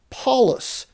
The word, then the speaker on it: Paulus: you find out that paul would have probably heard his name pronounced paulus just like this roman governor so interesting that luke